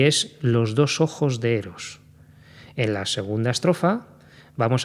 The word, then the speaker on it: Eros: adefa de esa manera empieza por sílaba tónica es una palabra llana eros es una vocal